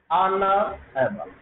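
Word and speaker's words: honourable: ऑनरेबल, ऑनरेबल। ठीक है ना, ऑनरेबल। ठीक है, तो इसका जो प्रोनाउंसिएशन है वो ऑनरेबल, ऑनरेबल। ठीक है ना, क्या होगा अपने पास? वाउल साउंड होता है।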